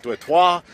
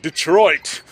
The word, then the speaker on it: Detroit: It was actually pronounced very differently. It was like Detroit, something like that. And we're Americans, so we're like, Detroit.